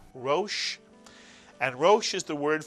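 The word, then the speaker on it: ראש: And the Shin, you have a one vowel, one syllable word, Rosh.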